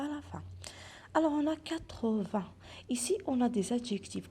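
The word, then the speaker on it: huit: Alors, 8, donc le H, c'est une lettre muette, ou bien il est muet, donc je ne le prononce pas généralement. 8.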